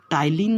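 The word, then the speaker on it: ptyalin: ये टाइलिन नामक enzyme secret करती है, स्पेलिंग देखिए PTYLINE।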